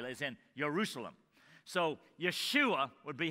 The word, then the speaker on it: Yeshua: So Yeshua would be how we'd say that. Or how they would spell it would be Y apostrophe Shua, and the